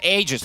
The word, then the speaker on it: Aegis: There was a time when we had to be told by Ice Frog how to pronounce Roshan because people, there was a patch and and Aegis as well. Yeah, Aegis, not Roshan.